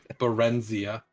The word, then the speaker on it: Barenzia: __ ] it is barenzia lorenzia b-a-r -e-n-z i a h sounds like a like a cholesterol pill s uh and the